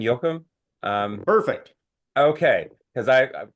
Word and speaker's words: Joachim: of the order St I'm going to say it I would in German Yokum um perfect okay because